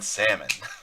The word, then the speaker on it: salmon: He pronounces the L in salmon.